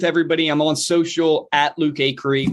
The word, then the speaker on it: Acree: i'm on social at luke akery my last name is spelled a-c-r-e-e so think acre with an extra e so at luke acre you can find me